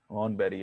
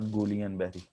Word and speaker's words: Guillain-Barré: बहरहाल G is spoken as horn and the L's are silent, hornberry है, it's not Guillain-Barré।